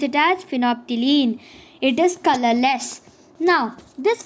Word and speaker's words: phenolphthalein: can copy it okay then completed phenophthylene we pronounce it as phenophthylene it is colorless now this phenopterine now now